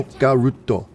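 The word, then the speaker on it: オカルト: I just gave her the name Okaruto, because that's the Japanese pronunciation of the English word occult. Oh, there's a treasure. Okaruto.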